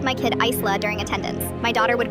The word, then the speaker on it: Isla: My daughter's name is Isla, pronounced eye-la.